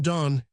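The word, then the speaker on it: Donne: He summed up the sorrows of the situation in the famous linear line which has some additional interest as suggesting the correct pronunciation of his name. John Don and Don undone.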